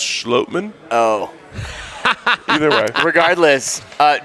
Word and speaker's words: Schlottman: any of our questions i think it's actually pronounced schlotman oh either way regardless